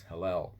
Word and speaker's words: Hillel: And I pronounced that wrong for many years, but it's Hillel.